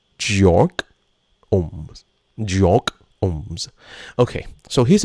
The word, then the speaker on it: Georg Ohm: So, I thought his name was George, but it was German. So, it's actually Georg Ohms.